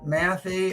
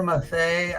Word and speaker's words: Matthey: vintage Brown and Johnson Matthey or mathay I've heard it pronounced both ways it's 999 JM vintage